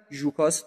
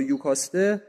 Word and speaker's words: یوکاسته: لایوس بر تخت میشینه ژوکاست یا یوکاسته چون این جی اولش و این دو تلفظش ممکنه ژوکاسر یوکاسته رو همسر خودش میکن می‌کنه و به اصطلاح حکومتی شکل می‌گیره.